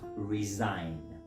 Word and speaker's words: resign: This word is pronounced resign.